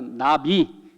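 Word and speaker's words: נביא: 나비. 네. 나비가 선지자예요. 여러분,이 나비는 아니에요. 그냥 발음만 같아요.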